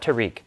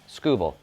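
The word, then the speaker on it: Tarik Skubal: It is TK, not Tariq. TK. And it is Scooball, not Scooball. Not like screw ball. Scooball.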